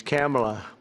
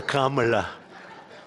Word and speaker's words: Kamala: first name that we have, but fortunately it's pronounced different. It's Kamala. As opposed to Kamala.